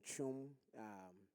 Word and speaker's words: Twum: So my name is Twum. It's spelled T, but it's pronounced C.